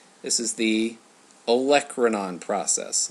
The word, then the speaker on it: olecranon: This is the olecranon process. A lot of people maybe can't pronounce olecranon process, I've found. It's exactly how it's spelled.